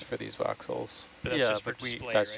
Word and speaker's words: voxel: why I don't know why I said voxel I kept hearing boxel foxel but Fox I said it right just is not